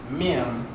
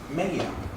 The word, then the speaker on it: Mem: According to the, make sure I pronounce this right, Sefer HaBahir, we do not pronounce it Mem, but Mayim.